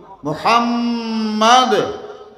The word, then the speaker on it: মোহাম্মদ: এক জায়গায় জমা রাখেন মোহাম্মদ বলেন কি মোহাম্মদ উচ্চারণের সময় আপনার দুনো হোট আমার দুনো হোট লাগে যায় না উনার নাম নিতে হোট